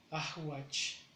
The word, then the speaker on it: ahuach: Ahuach, que es rocío. Ahuach debe llevar algo de at, la A de at, una H intermedia y watch.